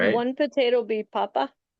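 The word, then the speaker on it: papá: And the word for father, a short one, could be papa, which is another example where the accent makes a difference. Papa. That would be on the last day.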